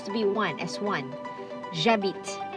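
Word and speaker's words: j'habite: be one as one jabbit jabit okay next we have two uh beat again is silent h is silent okay h is silent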